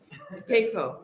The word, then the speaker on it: CAFO: CAFO. That's how they're pronounced, CAFOs.